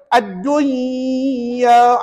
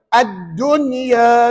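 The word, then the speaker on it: الدنيا: gitu tuan-tuan tuan-tuan tak tak boleh baca addunya Kalau tuan nak baca Tuan baca seoranglah saya tak nak baca gitu orang lain baca ataupun ulama membacanya addunia sebutun dibaca dengan izhar dia tak jadi hukum ni Nampak tak bezanya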